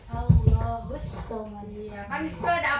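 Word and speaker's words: اللَّهُ الصَّمَدُ: Coba ada Ripa ulang sekali lagi yang qul huwallahu ahad, Allahus somad. Allahus samad. Iya, kan di situ ada apa coba kenapa bacanya tekan 2 kali? ada Tasdid. boleh duduk.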